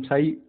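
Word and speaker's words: psi: साई, इसे हम साई प्रोनाउंस करेंगे, तो हैज no physical significance due टू be complex.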